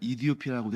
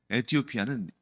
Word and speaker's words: 에티오피아: 그런데 그 선교사님이 뭐라고 답변했냐면 에티오피아는 영어식 표현이고 정작 그 나라 사람들은 이디오피아라고 표현한다라고 얘기하는 걸 들었습니다. 그렇기 때문에 그냥 이디오피아라고 말씀을 드리겠습니다.